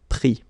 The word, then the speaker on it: pris: Prendre, so E-N-D-R-E, will become I-S. Same thing here. Final S not pronounced, so prendre, pris.